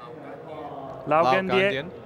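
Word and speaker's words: 老干爹: I think Lao Ganjie, something like that. Sure. Lumi. Lumi, how do you say LGD? Like the Chinese pronunciation. Is it? Say it again. Lao Ganjie. Lao Okay. Ganjie. There you go.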